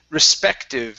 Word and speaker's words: respective: And this word here, this is respective. Stress right here. Respective. Respective.